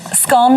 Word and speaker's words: scone: A 2016 survey found that 51% of Britons pronounce it to rhyme with gone, whereas 42% pronounce it to rhyme with bone.